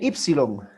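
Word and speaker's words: ύψιλον: Luego viene Ypsilon. Ypsilon, mayúscula, minúscula. Más o menos parecida a nuestra U en español, ¿verdad? Ypsilon. Ypsilon. Pero después de la Ypsilon vimos la Phi, que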